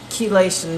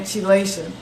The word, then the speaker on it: chelation: And I was saying it wrong. I was saying chelation until Queen Randy corrected me.